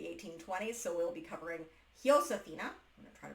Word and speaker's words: Josefina: so we'll be covering Josefina. I'm going to try to pronounce her name correctly, because the Spanish, the J is pronounced as an H.